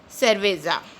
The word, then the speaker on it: cerveza: Here C is used with E, it is pronounced as cerveza, which means the beer in Spanish.